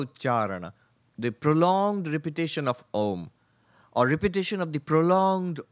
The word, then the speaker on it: Om: Actually, if you pronounce Om, you go through the entirety of all sounds because it starts with an open mouth, A. And then you slowly close the mouth, O.